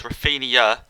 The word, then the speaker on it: Rafinha: Some guy in the comments said it's Rafinha instead of Rafinha. So it's like an IA on the end.